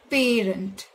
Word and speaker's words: parent: so it's not parent the stress is not given on the letter e it's given on the letter P its parent it's not parent its